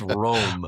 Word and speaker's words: Room: to tell you people, the double O in Dutch is an O sound, not an Ooh sound. It's It's Room.